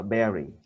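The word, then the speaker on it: bury: Đọc là berry. Ghi là U mà đọc là E.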